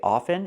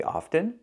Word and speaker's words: often: letters sh often often wait it's correct to say often and it's incorrect to say often this is not true both pronunciations are correct you can say often